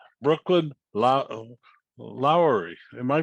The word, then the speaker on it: Lowery: to me one of the great names brooklyn lowry am i pronouncing it right you are that's right okay